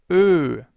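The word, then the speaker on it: Vögel: Try to pronounce an o. So the German version of an o and then round your lips and you get fugal.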